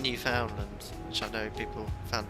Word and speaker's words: Newfoundland: It's 5:20 AM here in Newfoundland. Is that correct? No, it's Newfoundland. Oh no, I could never. Newfoundland? Oh, I thought it was Newfoundland.